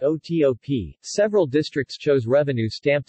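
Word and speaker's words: OTOP: government-sponsored economic development program abbreviated TP and pronounced oto P several districts chose revenue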